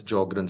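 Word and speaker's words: Sjögren: S is silent in these patients. So we call it as jogrren syndrome and dry eyes are also known as keratto conjunctivitis sika.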